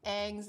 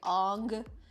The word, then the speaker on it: Aang: about that yeah when they mispronounce aang's name as like ong and yeah they completely